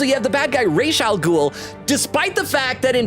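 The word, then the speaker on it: Ra's al Ghul: Okay, so you have the bad guy Raal Ghoul despite the fact that in Batman Begins in certain other media they call him Razal Ghoul. I know it's spelled Raz R apostrophe S, but like the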